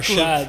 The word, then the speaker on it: Arshaad: And the next day he messaged me and he was like, hey Arshaad, and he even pronounced my name correctly, which was Arshaad.